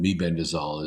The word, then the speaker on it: mebendazole: And then there's Mebendazole. Some people call it Mebendazole, but Mebendazole is the right way to say it.